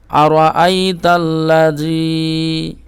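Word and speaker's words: أرأيت الذي: মাদ্দার জন্য আর আইতাল্লাজি আর আইতাল্লাজি এই যে র টা আপনারা পুর করবেন ঠিক আছে মুখখানা গোল করে র টা উচ্চারণ করবেন আ র আর আইতাল্লাজি তারপরে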